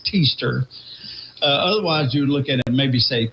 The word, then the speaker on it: Teaster: You say his name is Kester. Teaster. No, Teaster.